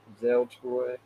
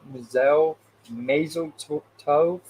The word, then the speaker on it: mazel tov: Mazel Toy. How do you say that? Mazel Tov?